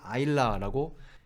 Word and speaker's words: Isla: 이거를 아일라라고 읽는다는 것을.